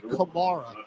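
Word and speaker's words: Camara: I'm thinking of Alvin Kamara, even though this is spelled with a C, but it's actually Kamara. And I'm thinking of Alvin when I'm talking about his name. But in the pronunciation guide, it is Kamara.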